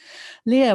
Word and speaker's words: Leaha: world so and also just note my name is spelt very funny my mom had a good sense of humor it's leah is l-e-a-h-a like leah and then o